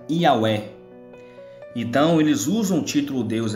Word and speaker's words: יהוה: vocês vão ver que este nome se pronuncia e auê certo este nome aqui vou mostrar para vocês agora que este nome aqui ele se pronuncia e ao é só que o nome do criador ainda não é porque porque a última letra do nome do eterno é muda o nome do criador